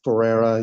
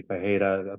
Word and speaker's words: Ferreira: It's Ferreira. You got it right, or you mispronounce it the exact same way that I do. It's really Ferreira, Portuguese.